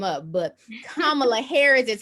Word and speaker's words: Kamala Harris: Harris, and everyone tears her name up, but Kamala Harris is how you pronounce it for those who don't know.